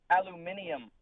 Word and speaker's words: aluminium: Silk, the British pronounce it aluminium.